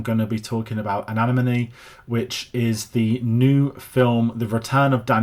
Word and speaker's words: Anemone: I spent months thinking this was called Animoney. Um, but it is an enemy, I think.